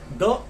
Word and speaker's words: the: दी pronunciate करेंगे जब आपके सामने वोवल साउंड का वर्ड हो। ये अदरवाइज कॉन्सोनेंट साउंड वाले वर्ड के सामने आप द यूज करेंगे।